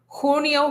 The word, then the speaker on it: junio: Junio, julio. Make sure you're using an u sound for that u.